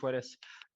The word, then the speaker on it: Puelles: Oh, then it's definitely Puelles.